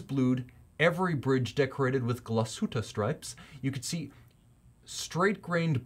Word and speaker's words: Glashütte: The system is propelled by a caliber 95-1 manual wind Glashütte Original, because they use the hard G in Germany.